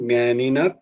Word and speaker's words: জ্ঞানিনঃ: নয়, উপদেক্ষন্তি তে জ্ঞানম জ্ঞানিনা তত্ত্বদর্শিনঃ। এটা হচ্ছে জ্ঞানিনঃ, জ্ঞানিনঃ তত্ত্বদর্শিনঃ। তো জ্ঞানিনঃ তত্ত্বদর্শিনঃ করতে গিয়ে যদি এক করে দেয়, ওই ছটা ওই জন্য আসে। তো উচ্চারণটা হবে কিন্তু জ্ঞানিনঃ তত্ত্বদর্শিনঃ।